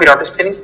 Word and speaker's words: Eratosthenes: Yes, this is how it's pronounced as well. Sieve of Eratosthenes.